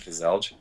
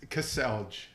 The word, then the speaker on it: Kaselj: you say your name it's Cassel Cassel that's the English way of saying it Cassel one syllable just you see all the letters Cassel that's not one syllable Cel that's not one syllable that's two Cel okay two syllables okay I learned something